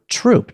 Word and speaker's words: troupe: So the French took the word troupe, Troop, and they pronounced it the same way.